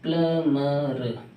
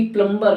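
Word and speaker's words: plumber: प्लम्बर होता, प्लम्बर को बुलाओ, प्लम्बर को बुलाओ, प्लम्बर होता, ना कि प्लम्बर नहीं, प्लम्बर नहीं, प्लमर होता, प्लमर, B साइलेंट होती।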